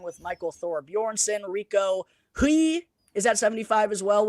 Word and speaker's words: Hui: Well, I call him Hoey. Rico Hui. Hui. It is Hui. Hui. I call him Hoey. Yeah, just because the way it's spelled. No, I think it is Hoey.